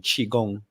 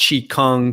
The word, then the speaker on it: qigong: it yeah i'm so i'm using the standard mandarin pronunciation qigong and um and that's okay you can call it chi kung ki gong whatever you